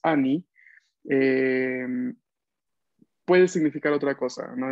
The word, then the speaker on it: anni: Annie quiere decir anos, si lo pronunciamos mal, ¿no? Por eso hay que pronunciar la doble N, atención.